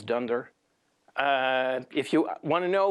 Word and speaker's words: dunder: objects dunder dict attribute we pronounce under-under as dunder if you want to